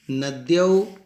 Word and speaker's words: नद्या: ध्यान रखना चाहिए इसका उच्चारण द्य, द्य न कि ध। द्या, द्य, द्य, ऐसा द्य द हलंत और य के मिलने से बना है। इसका उच्चारण अच्छी तरह से होना चाहिए।